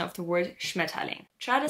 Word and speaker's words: Schmetterling: probably saying something like Schmetterling. Remember that most times when an R is following an E in the end or in the middle of a word, we don't actually pronounce that R.